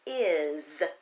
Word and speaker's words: is: those words out know if you tried to sound out is it would sound like this it but you really pronounce the word is with the Z what if you tried